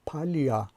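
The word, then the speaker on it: поля: جای آن آمده است و تلفظش می شود پالیا، یعنی زده در بالای هجای آخر روی حرف ی افتاده است و این آ تلفظ می شود و شده پالیا شکل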